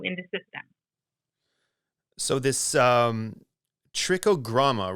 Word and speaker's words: Trichogramma: So this Trichogramma, right? Did I pronounce that correctly?